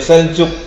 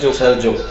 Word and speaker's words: Seljuk: yang kita sebut sebagai Seljuk. Ya, ada yang bilang Seljuk, ada yang Seljuk. Ya, tulisannya Seljuk, tapi orang-orang bacanya Seljuk.